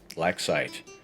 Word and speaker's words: Blacksight: a new project which will be titled Blacksight, spelled like light or fright, or right, or might. But not like Sprite, not like black sight, as in like, you